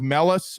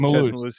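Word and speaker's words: Mellusi: Mellis, I think is how you say his last name, if I'm not mistaken. 51 rushes, 307 yards. Malusi. Are you talking about Malusi?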